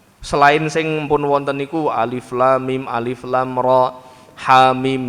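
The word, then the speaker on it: الم: dia membaca surah Albaqarah harusnya alif lam mim malah dibacanya alama itu cah SMA loh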